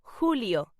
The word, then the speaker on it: julio: July in Spanish is pronounced julio.